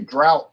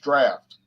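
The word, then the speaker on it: draught: 4.2 some people say drought stout but it's that's the old english way of spelling drafts so anytime you see d-r-a-u-g-h-t it's pronounced draft just like yeah f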